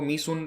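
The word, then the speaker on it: Mỹ Sơn: तो ये डिस्कवरी करी गई है वियतनाम में, एक जगह है जिसका नाम है मी सुन, इसको मी सुन प्रोनाउंस किया जाता है।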